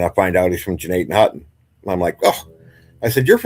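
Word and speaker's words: Gnadenhutten: It's Jeanette Hutton. Now, if you're not from here, everybody pronounces it like Gnottenhooten, right?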